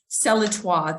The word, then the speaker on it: Celletoi: But yeah, I am really excited about the Celletoi. That's how you pronounce it.